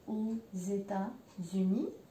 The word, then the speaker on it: aux États-Unis: Le X مع ال E ينطق Z. Faut pas oublier. Et le S avec le U, il ينطق كمان أيضا Z. Donc je vais aux États-Unis, je vais aux Caraïbes.